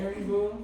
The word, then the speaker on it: Haribo: Harry Boo, that's what that's called.